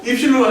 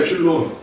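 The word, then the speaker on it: epsilon: 입실론 아니야, 엡실론. 이건 뭐예요? 델타입니다. 엡실론, 델타 방법을 이용한 함수의 극한의 성질의 엄밀한 고찰입니다.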